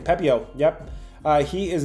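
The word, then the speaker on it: Pepiot: Pepio.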